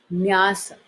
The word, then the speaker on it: nyas: Talking in English, so it's becoming nyasas, but it's nyas.